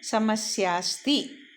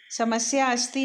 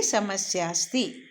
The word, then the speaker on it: समस्यास्ति: पर अवग्रह हो गया, और ये साइलेंट होता है, उच्चारण इसका नहीं करते, आ का उच्चारण नहीं करते, तो इस प्रकार हम बोलेंगे समस्यास्ति। समस्या अस्ति नहीं कहेंगे, कहेंगे समस्यास्ति, क्या समस्या है।